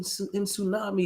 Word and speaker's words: tsunami: like waves and and I know the tea in tsunami is silent but it has been nothing